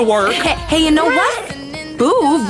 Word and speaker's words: Boov: Boove rhymes with groove.